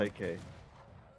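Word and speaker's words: Székely: The Hungarian, how would you pronounce it, Sketskele? Seki. Or Them. Seke. They are Seke.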